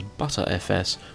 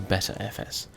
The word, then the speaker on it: Btrfs: v3 file system and it's usually pronounced as butter FS or better FS and in brief this